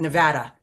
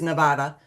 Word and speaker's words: Nevada: Nevada. Northeastern Nevada. I know it comes from the Spanish for snowy, which is Nevada, but it's Nevada.